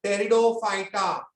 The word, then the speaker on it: Pteridophyta: टेरिडो, spelling देखो, P silent, T is silent. Pteridophyta.